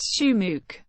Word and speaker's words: Shumuk: danelo Lavon OIC schumak Ukrainian last name pronounced shuk b December 30th 1914 in Village boram Shina